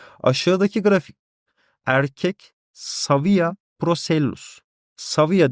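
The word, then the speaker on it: Cavia: Saviya diye okunuyor bizde Latince kısmında. Yani C'ler hep S diye okunuyor.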